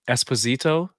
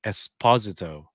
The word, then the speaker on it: Esposito: And I've always been saying it Esposito, but he pronounces it Esposito. So? I think Yeah, that's what that like. I just assumed it was Esposito, and then yeah, and then I heard until